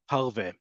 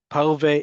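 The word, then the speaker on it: פרווה: Guess what it is, folks? Parve. Okay. Parve is the word. It originally comes from Hebrew, but the word is parve. That is just pronounced differently.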